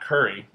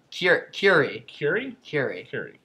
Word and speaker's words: Curie: It's not curry. Curie. Yeah. Not Curie, though. I'm trying to make it sound French. Pierre Curie. Curie, you want to say? Marie and Pierre Curie.